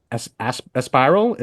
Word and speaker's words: Aspiral: your ninth album now, Aspiral. Did I say that right too? Um, Yeah, don't pronounce it as ass, but aspirant.